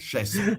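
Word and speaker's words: Chaisson: Will pass rushers Kalevion Chasson and I want to pronounce that like French. Chasson.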